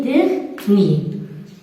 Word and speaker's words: dernier: Des mots comme par exemple premier, dernier, bon, dernier. Ces mots aussi, on dit ici, R ne se prononce pas.